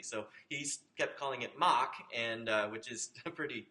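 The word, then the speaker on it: Mach: mock Mark actually uh started out being called muck but there was a uh there was an Italian graduate student on the team who could not pronounce muck accurately so he's kept calling it Mock and which is a pretty Italian thing to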